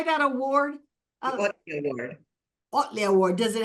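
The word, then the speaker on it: Ohtli: Otley Award.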